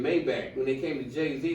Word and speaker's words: Maybach: He even mispronounced it on purpose because he had to tell. It's so hard to find something that rhymes with You know how long Maybach been out? It's Maybach.